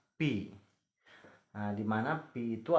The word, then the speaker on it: π: Nah, ini lambang yang seperti ini. Ini dibacanya pi.